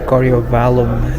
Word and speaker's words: Coriovallum: So, apparently the city of Heerlen in Roman times was called Coriovallum. Or, "Coriowallum", if you pronounce it in English.